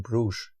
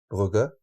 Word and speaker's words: Brugge: It might have been in Bruges, Brugge, in the right pronunciation, and I've been to a beer house there, and I think they claim to have like all Belgian beers.